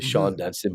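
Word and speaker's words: Shawon: Gary gothier commented about shaan Dunston actually Sha dunon but it's spelled shaan so I was called him shaan Dunston the great short stop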